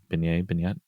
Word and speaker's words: beignet: beignet.